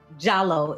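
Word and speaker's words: Diallo: humanity of his mom KATU jallo is the correct pronunciation as she taught me was the humanity as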